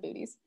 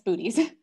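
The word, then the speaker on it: Boötes: I'm going to call John out on this because he calls it booties, which I enjoy. I'm pretty sure we have a specific pronunciation guide somewhere in the Observer's Handbook.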